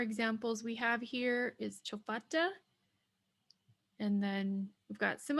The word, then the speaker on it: chofata: So fa is going to be lengthened. So we'll change the A to a lengthened A. Chofata, chofata would be the correct way to say this, chofata.